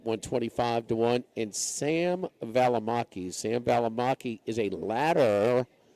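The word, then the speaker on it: Valimaki: Valamaki. V A L I M A K I. Okay. At least it's spelled like it sounds.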